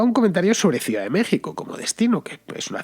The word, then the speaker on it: México: la palabra examen luego otra que sería sonar como j como la palabra méxico que tú sabes que se escribe con x luego tenemos otra que